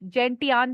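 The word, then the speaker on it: gentian: 11th इज एल्म, 12th इज जेंशियान, कुछ जेंटियान भी बोलते हैं बट आई प्रोनाउंस इज जेंशियान।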